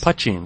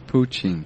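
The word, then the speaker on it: poitín: Is that how you say it? I thought it was poutine. No, Pucheen.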